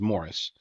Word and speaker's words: Maurice: was Canadian millionaire Maurice it's pronounced Morris spelled Maurice but it's Morris Morris strong a high school